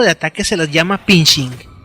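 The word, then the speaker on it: phishing: ataques se les llama pinching se pronuncia igual que fishing pesca los usuarios de estos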